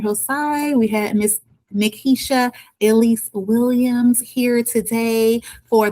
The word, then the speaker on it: Nikesha: Am I pronouncing your name right? It's Nakisha or Nakisha?